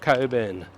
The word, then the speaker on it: Cockburn: names for suburb because it's spelled cockburn but it's pronounced Coburn now there is an